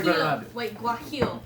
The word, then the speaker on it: guajillo: Wait, guajillo. You have to go from the throat like Guajillo.